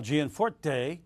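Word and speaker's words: Gianforte: plus incumbent congressman Greg Jian fours and Rosendale was looking to unseat senator Jon Tester while G and Fort day that's how you say it it's challenging Democrat Kathleen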